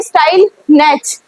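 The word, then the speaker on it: Stille Nacht: थे इट वाज़ स्टाइल नेच इसको क्या पढ़ेंगे स्टाइल नेच नेच नहीं पढ़ेंगे टी नहीं प्रोनंसिएट करेंगे अपन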